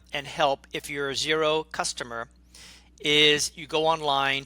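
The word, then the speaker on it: Xero: New Zealand and Australia called zero and the company is spelled xer o and they are a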